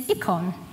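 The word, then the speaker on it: εἰκών: The word in the Greek for image is ikon. And Anna, I hope I'm saying it right. Ikon. Does that sound like any other word that we have in the English language? Icons.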